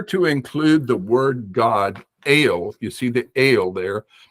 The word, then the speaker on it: El: but that is the the word God not L it is not L with a short e it is ale with a long e sounds like a long a so the name ale